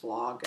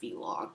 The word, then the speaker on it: vlog: I guess people call, it's pronounced vlog, and I've always called it vlog because I'm dumb.